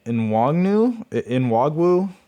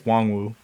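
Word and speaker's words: Nwangwu: Kene Nwagwu. I think it's Wangwu, but I love how he was the kick returner.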